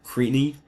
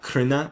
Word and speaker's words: Cruithne: I do have a past video on Cruithne, or Crina, or Cruithne, whichever way you want to pronounce it, another quasi-satellite of the